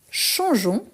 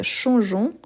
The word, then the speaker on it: changeons: Donc, changeons. Je vais vous montrer. Changeons, E-O-N-S. Changeons. Sinon, on a les sons changeons. Donc, pour éviter les sons, on ne prononce pas les E, mais on l'écrit.